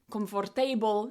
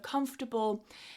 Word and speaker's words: comfortable: So, if you constantly mispronounced a word like "comfórtable" instead of "comfortable," then your brain is just going to kind of switch off that bit.